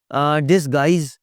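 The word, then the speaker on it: disguise: डिसगाइज़ में you silent है, guard में यू साइलेंट है जी, बिल्कुल साइलेंट।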